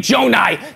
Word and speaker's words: Gjonaj: You know my name, Jonai.